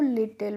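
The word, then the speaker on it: little: सी the rabbit was डब्ल्यू एच आई टी E white देखिए जब भी किसी स्पेलिंग के लास्ट में बच्चों इ आता है तो उसका प्रोनाउंसिएशन हम नहीं करते हैं। आपने यहां पे भी देखा होगा लिटिल में भी हमारा लास्ट में इ आया था तो हमने लिटिल ए नहीं पढ़ा था इसको लिटिल पढ़ा था टी एच ई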